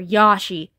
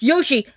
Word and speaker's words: Yoshi: like when someone says mario or yashi like it's yoshi and mario you dumb no way